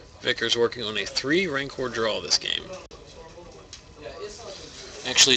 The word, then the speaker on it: Rancor: working on a three Rancor draw this game actually it's pronounced ranker rhymes with anchor common mistake you can just come